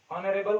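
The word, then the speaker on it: honourable: जैसे an hour, ठीक है, an honest man, ऑनरेबल court, etcetera. गो के जहां पे एच साइलेंट है लेकिन साउंड वोवेल की है, शुरू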